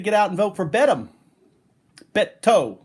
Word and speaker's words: Beto: Okay, I am basically a volunteer for the Beto campaign to get folks out to vote and to encourage them to vote against Cruz.